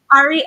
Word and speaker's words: Ary: Am I pronouncing it right? Aryan man. Ari.